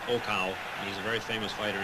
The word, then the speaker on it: Okao: problem with him but i understand he's pronounced okow he's a very famous